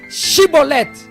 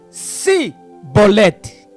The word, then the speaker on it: Chibolete: Tá bom, então fala Shibolete. Aí ele falava Sibolete. Quando ele falava Sibolete, era morto. Por quê? Porque a pronúncia Sibolete identificava a pessoa como sendo da tribo de Efraim.